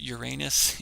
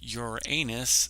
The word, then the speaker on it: Uranus: planets, these Uranus, and yes, I pronounce it Uranus, it is Uranus 100%.